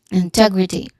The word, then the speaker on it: integrity: The primary stress on the second is on the second syllable. Integrity. Second syllable is re.